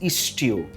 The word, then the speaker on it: Ishtu: The stew that I'm making today is deliberately pronounced Ishtu.